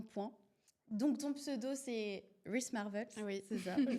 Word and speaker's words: wristmarvels: Donc ton pseudo c'est Ris Marvel. Oui, c'est ça. Je prononce correctement.